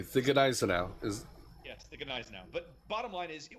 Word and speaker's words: Gneisenau: yes, the Gneisenau.